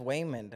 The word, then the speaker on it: Waymond: it was Waymond wasn't it I think it's Raymond but I think he's pronounced it wait a minute it's just women and then the daughter is joy um yeah but like oh it is just women wow but Wayman you know I thought it